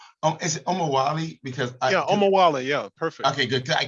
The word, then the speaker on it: Omowole: Because Yeah, Omowole. Yeah, perfect. okay, good. I keep saying, am I pronouncing it correctly?